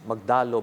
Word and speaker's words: Magdalo: and by the way I pronounce it we pronounce it as magdalo because the magdalo is the one the historical